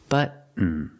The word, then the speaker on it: button: this button right here don't pronounce the word button button it sounds more natural if you say say button Buton how do you do it well the t is a stop T so you put your